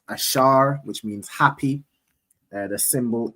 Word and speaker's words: Asher: So those those countries in between there are predominantly the tribe of Asha right in the Hebrew it's ash pronounced ashar which means happy the symbol is the royal dainties which is typically grapes.